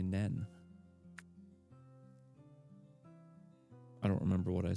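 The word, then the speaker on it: Nene: Or wait, did I say Neen the first time or did I say Nen? I don't remember what I said. Huh. N-E-N-E, but pronounced N-E-E-N, maybe?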